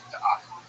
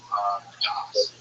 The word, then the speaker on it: Da'at: And that new Torah is going to inaugurate a new religion that he calls Da'at, wisdom, knowledge, Das. Is how you say it in Ashkenazi Hebrew, but this idea he's